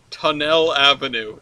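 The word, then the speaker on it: Tonnelle: It's spelled T-O-N-N-E-L-L-E. No, yeah. we don't live above a tunnel. We live above a tunnel. Tunnel Avenue. Freaking French. The tunnels. Yeah. Tunnel. Yes.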